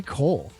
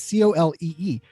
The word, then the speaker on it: Colee: I said Cole. It's Colee.